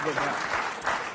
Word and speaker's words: Vivek: Yeah, maybe no, it is Vivek because I heard him do a rap and he said it rhymes with cake.